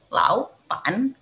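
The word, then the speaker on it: 老板: Kalau ada nada 3 dan ada nada 3 kedua, nah kita cara bacanya itu pertama Lao-nya itu kita ganti dengan 2. Jadi Lao Pan, Laupan gitu ya.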